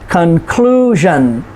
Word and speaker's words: conclusion: Conclusion, next to the last syllable. Television. So we say, what is the conclusion? Conclusion, clue. There's the emphasis, the stress on that syllable.